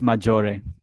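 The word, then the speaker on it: Maggiore: do you pronounce that let's learn how to pronounce things okay let's do the here we go it's majori okay i just wanted to know before i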